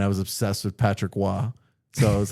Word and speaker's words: Roy: It's pronounced Wah.